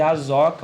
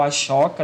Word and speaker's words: Ashoka: durante o governo de asoka ou ashoka depende da pronúncia e aqui a gente